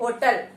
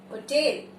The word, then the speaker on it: hotel: Never say होटल. होटल is wrong English, wrong pronunciation. कैसे बोलेंगे? थोड़ा स्टाइल से, correctly. And हाउ डू वी say that? होटल.